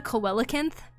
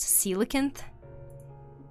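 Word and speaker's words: coelacanth: I used to call it a coelakinth. It took me a long time to realize it's actually pronounced silicon.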